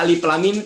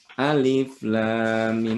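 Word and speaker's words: الم: yang salah bacanya jadi baca Alif lamim teh Bu Jadi bukan alif.lam.mim bukan alamat gitu karena bersih diajar Yasin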